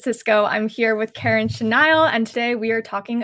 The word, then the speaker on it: Chenaille: everyone it's Bridget Cisco I'm here with Karen chenile and today we are talking about the realtor